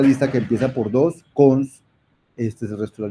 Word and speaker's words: cons: uno escribe y a esa etiqueta se le pronuncia típicamente como cons ese es el constructor de lista se le